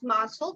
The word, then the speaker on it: muscle: The letter C and the letter L, the letter C is silent.